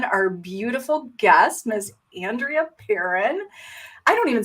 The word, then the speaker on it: Perron: all over i apologize no you're perfectly right it's andrea perrin okay that's it it's actually my last name is french it's perron well i